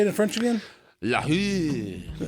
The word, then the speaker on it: LaRue: LaRue.